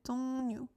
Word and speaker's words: 종류: But a lot of times when we have this and a real after that, it's more like a N, pronounced like an. 종류.